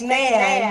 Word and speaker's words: McMahon: Vince McMahon.